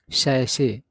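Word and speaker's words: sachet: सही उच्चारण क्या होता है? सैसे।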